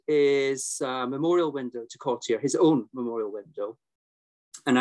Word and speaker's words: Cottier: So I'm going to use the pronunciation Cotier.